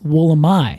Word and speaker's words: Wollemi: will let me uh however in uh the place where this is from they would pronounce it the woolamai Wilderness so the trees named after the Wilderness which they pronounce wool am I I see and that